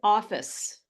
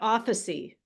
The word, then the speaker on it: office: so this is make this is office not officy now officy has been